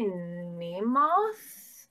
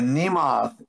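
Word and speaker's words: Mnemoth: it i would say name moth it's m-n-e-m-o-t-h so it's like a demonic nemo i feel like the first m is silent the nemoth is the hunger demon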